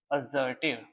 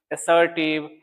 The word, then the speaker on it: assertive: अजर्टिव। बहुत सारे बच्चे इसको मिस प्रोनाउंस करते हैं। बहुत सारे बच्चे पढ़ते हैं असर्टिव असर्टिव। इसका स ज साउंड होता है।